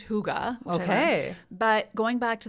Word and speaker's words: Hygge: It's written like I pronounced it when I first discovered it, Hygge, Hygge, but it's pronounced Hygge.